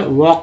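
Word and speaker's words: walk: ये एल के में एल साइलेंट है तो यहाँ पर वॉक पढ़ते हैं ना कि वॉक है।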